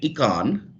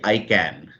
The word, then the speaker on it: IKAN: So first of all, the pronunciation, you kept on calling it Ekan, but it is actually ICAN, okay, which basically means a positive statement of intent if you look at it logically.